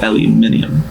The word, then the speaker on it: aluminium: Spelled like aluminum, but it's pronounced aluminium.